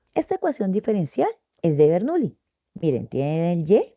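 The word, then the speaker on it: Bernoulli: Se escribe Bernuli. Bueno, si lo leen en español no hay lío, también se puede leer vernughi.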